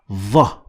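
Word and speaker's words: ظ: Next up is the letter dha. And dha is only compared to a heavy th in the sense that it is the voiced th of English, like the one we see in the word there.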